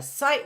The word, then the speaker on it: sight: a sight word a sight word rhymes with might sight might so when